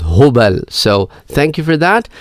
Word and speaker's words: Hubal: You didn't pronounce the idol Hubal. You said it was Hubul. Well, the correct pronunciation is Hubal.